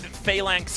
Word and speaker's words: Phalanx: I want your coveted Phalanx comp to come out. Am I pronouncing that correctly?